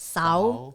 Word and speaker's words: Xauv: So it's spelled Xauv, which is pronounced Sao in Hmong Da, in the white Hmong language, but it's called differently in Hmong Joa, Lupao, right?